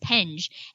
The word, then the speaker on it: Penge: Tell me how to pronounce the name of the app. Yeah. So, I call it penge.